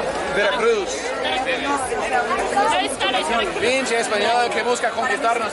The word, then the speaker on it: Veracruz: En primer lugar, en primer lugar, no se dice Veracruz. Veracruz.